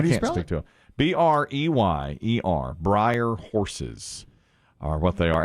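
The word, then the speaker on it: Breyer: they were then and i don't think i pronounced it correctly it's briar horses or brayer horses b-r-e-y-e-r horses and i don't know what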